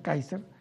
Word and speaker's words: Kaiser: lo busca por youtube se llama keyser con k y ese ere que káiser se pronuncia kaiser report que viene interesante